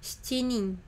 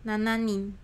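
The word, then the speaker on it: 七人: 1人 Hitori, 2人 futari, 3人 sannin, 4人 yonin, 5人 gonin, 6人 rokunin, 7人 shichinin, 7人 nananin. Hai, ijo desu ya. Demikian itu pengucapannya untuk jumlah orangnya ini.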